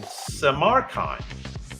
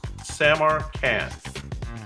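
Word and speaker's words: Samarkand: Capital was located in Samaran so Samar and let's see let's say it right Samar Samar can there we go Samaran is his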